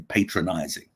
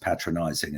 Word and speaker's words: patronizing: Costello, I found your presentation very patronizing." And I wanted to say, well, actually, it's pronounced patronizing and it means speaking down to people.